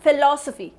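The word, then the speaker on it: philosophy: word की pronunciation में primary syllabus sound which इसे पी ह आई एल ओ एस ओ पी ह ए फिलासफी सो एल ओ इस गिवन मोर इंपॉर्टेंट ठीक है डी नेक्स्ट वैन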